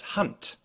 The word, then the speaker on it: Hand: So a German will pronounce this word, for instance, as Hand, with a t sound at the end.